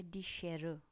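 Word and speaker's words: Schere: फिर आता है डी शेर, डी शेर, जैसे हम लोग शेर कहते हैं ना, एग्जैक्टली वैसा ही प्रोनाउंसिएशन है बट एंड में ए है, शेर, डी शेर।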